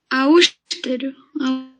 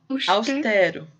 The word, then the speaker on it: austero: Agora, a próxima palavra, a pronúncia tem um E aberto, tá? Pode pronunciar. Austero. Austero. Isso, austero. Também é paroxítona.